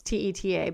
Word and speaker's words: Teta: There's a guy that I follow named Jade, and I'm not sure how to say his last name, Teta or Tita. It's Teta, but he lives in the nutrition health world,